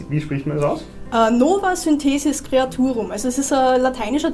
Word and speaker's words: Nova Synthesis Creaturum: Wie spricht man das aus? Nova Synthesis Creaturum.